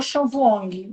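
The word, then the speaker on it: Vuong: instante de um autor, eu acho que se pronuncia o Chanong. Eu não tenho certeza se a pronúncia é essa.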